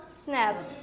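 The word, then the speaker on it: Schnapps: स्नैप्स स्नैप्स। Pronounced स्नैप्स। Pronounce स्नैप्स।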